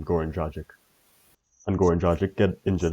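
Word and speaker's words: Goran Dragić: Goran Dragic.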